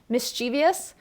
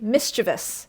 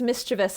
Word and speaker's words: mischievous: It says, we think that the I is here because so many words end with IOUS, but it's actually mischievous is like the correct pronunciation.